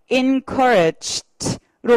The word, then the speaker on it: encouraged: 동사 그럼 어떻게 발음한다 트 발음이 난다 어떻게 encouraged로 발음하시는 거세요 한번 해볼게요 자 시작